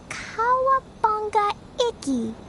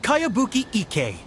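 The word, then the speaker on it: Kayabuki Ikkei: new one i've never heard of it by cowabunga icky this is a really strange name who's this cowabunga it's pronounced kayabuki ek that would be me outlander brigade is a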